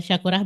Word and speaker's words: Syakurah: Like the how you pronounce it will be Shakurah.